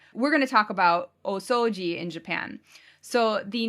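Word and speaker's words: 大掃除: So it's elongated O both times, so that's why I'm saying it that way. But it's like o-soji.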